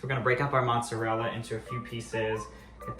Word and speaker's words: mozzarella: We're not Italian, we're very Jewish, but she would always say mozzarella. Like, Mom, it's mozzarella. Why are you calling it that? So we're gonna break up our mozzarella into a few pieces, get the whole thing really covered.